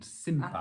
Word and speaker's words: simpa: Because every time you have a word with an N and a P in Spanish, it's an M.